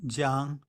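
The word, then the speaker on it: 江: The river is pronounced jiang, but the phonetic is pronounced gong. In Chinese, in ancient times, those 2 were pronounced the same.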